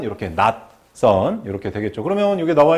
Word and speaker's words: 낯선: 저흰 소리로 표현이 되는 거죠 그래서 올바른 표준 발음은 이렇게 낙선 이렇게 되겠죠 그러면 여기에 나와 있는 것은 뭐